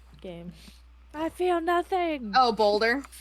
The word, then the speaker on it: Baldur: i feel nothing oh bolder or baldier or balder i can never say his name balder well they're all there's